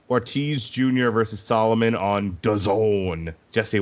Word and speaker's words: DAZN: versus Solomon on DAZN. Jesse, what does DAZN rhyme with? Calzone, sir. Goddamn right.